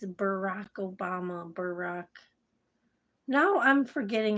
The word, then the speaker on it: Barack: happens to us all you put Barack it's Barack Obama Barack now I'm forgetting how the to spell it damn it it's been a while so now but it's not Brock it's not Brock is barck barck is b